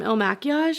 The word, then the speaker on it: Il Makiage: And last, my goodness, from Il Makiage, is how you say it.